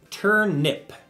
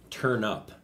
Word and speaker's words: turnip: Turnip. Turn up. Interesting. It's a turnip. I usually pronounce it turnup. T-U-R-N-U-P, I pronounce it. But it's actually turnip.